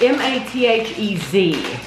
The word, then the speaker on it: Mathez: They are chocolat, it's M-A-T-H-E-Z. So Mathez is how I would pronounce that.